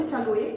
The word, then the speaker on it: saluer: Esse verbo saluer, vocês podem observar que termina com ER, mas a letra R não é pronunciada. Outro exemplo, né? Então, a gente não fala saluer, a gente fala saluer.